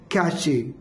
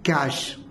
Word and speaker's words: cache: The next word is been very famous word कैचे और कैच, बट is wrong. कैश इज a memory, इसका right pronunciation है कैश, जो कि एक computer